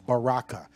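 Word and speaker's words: Berachah: to strongs it's a Baha Baraka okay it's pronounced Baraka scroll down to the brown driver Briggs definition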